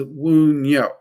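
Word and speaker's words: Wunjo: Like technically the pronunciation of Wunyo is Wunyo. A lot of people will catch me with my southern twang. I will call it Wenyo.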